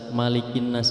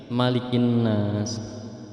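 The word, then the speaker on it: مَلِكِ النَّاسِ: Nah, kebanyakan dari kita membaca malikin nas ini panjang, seperti membaca dalam surah Al-Fatihah maliki yaumiddin. Padahal di mushaf itu malikin nas, bukan malikin nas. Nah, ini kesalahan yang selalu kita baca dan itu sudah kita hafal dari kecil begitu. Jadi kita harus ubah bahwa dalam kata malikin nas itu pendek namanya, bukan malikin nas tapi malikin nas.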